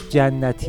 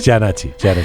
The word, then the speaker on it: Jannati: And you pronounce Jannati Atai so French. Jannati. How do you pronounce it? That's Janati.